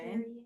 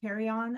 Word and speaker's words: carrion: Okay, Carrion, that's how you pronounce it. carry on, uh-huh.